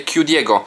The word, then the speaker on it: QDPSX: W ogóle kliknijcie sobie też na recenzję Q Diego, czyli QDPSX, pisze się Q, litera ta amerykańska Q, DIPSX, razem wszystko pisane łącznie.